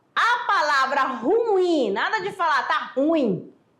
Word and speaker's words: ruim: terminada em ai tá ruim ó a palavra ruim nada de falar tá ruim é quando você